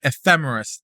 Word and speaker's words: ephemeris: but yeah, I think ephemeris with the stress on the fe seems to be the most common way of saying it.